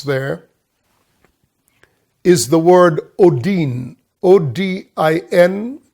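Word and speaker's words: ὠδίν: O-D-I-N, it's pronounced odin, and it means birth pangs.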